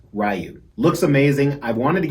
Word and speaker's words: Ryu: have this in hand yes that's how it's pronounced ryu looks amazing i've wanted